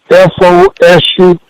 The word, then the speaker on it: Fosu: How do you pronounce his name? F-O-S-U.